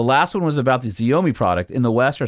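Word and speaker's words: Xiaomi: CEO of Ford had a I guess it's pronounced zomi su7 SUV that was imported from Shanghai and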